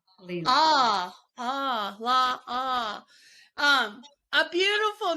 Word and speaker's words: La'a: La'a, is that how you pronounce it? It's La'a Leela. La'a.